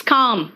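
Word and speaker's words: calm: वो चौक होता है एंड काम इट is naught L इट्स काम है ना एल को साइलेंट कर दो नेक्स्ट आओ के के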